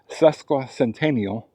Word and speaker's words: Sesquicentennial: pronounce it and uh he said it's Sesqua Centennial, but everybody refers to the uh park as Sesqui.